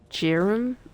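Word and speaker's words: Jarl: Jarm, that's how you say that I've been saying it wrong the whole time that I have been playing this game. I don't like how Jerum sounds, but sure. It sounds like germ.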